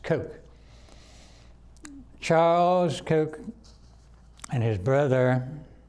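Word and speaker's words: Koch: sometimes see people see that and say the cotch by what it's pronounced Coke Charles Coke and his brother his name escaped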